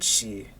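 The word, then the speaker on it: 四: Japanese is God, and shi is 4. 4 also has a special connotation in Japan. It's considered an unlucky number because it's pronounced the same way as their word for death.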